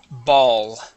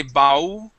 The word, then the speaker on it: ball: Just remember when you pronounce that L, okay, that you want your tongue to curve and touch the top of your mouth, okay?